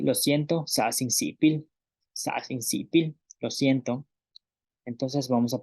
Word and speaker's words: sa'as in si'ipil: Y lo siento, sa sin sipil, lo siento. Entonces vamos a pronunciar una vez más estas frases.